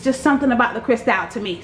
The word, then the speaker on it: Cristal: It's just something about the Cristal to me. So it's pronounced crystal, but y'all know Cristal.